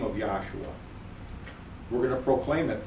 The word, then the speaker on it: Yahshua: If you don't like us using if you have a problem with us using the physical letters YHSHUA and then pronouncing it Yahshua, we'll just proclaim the principles of his name so that you recognize that he is salvation, mm-hmm.